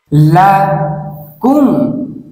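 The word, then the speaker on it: لكم: লা কুম লা কুম লা কুম। এইভাবে করে শব্দটি 10 বার বলুন। এই শব্দের উচ্চারণ হচ্ছে লাকুম লাকুম।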